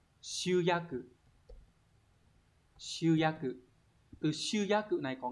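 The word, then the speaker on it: 集約: Từ số 1 này, hán tự là chữ tập và chữ ước, đọc là shuyaku.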